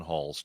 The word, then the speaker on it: Huls: I brought in filmmaker Huls. welcome to the show. Thank you. Thank you for having me. I'm very happy to be here. Did I say your name right? Huls, yes.